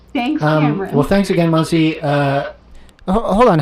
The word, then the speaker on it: Mansi: You're pronouncing my name correctly. You're basically Indian. Oh, so it's Mansi.